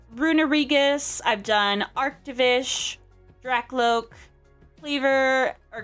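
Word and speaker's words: Kleavor: Okay, it's pronounced Cleavor.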